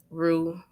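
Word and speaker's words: rue: these herbs in like the grocery stores but roux is a very cleansing herb that you can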